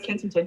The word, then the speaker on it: Kensington: of it uh Kenington Tamina yes you're right Kensington that's what I thought it was I couldn't remember the the pronunciation but Kensington um which is uh we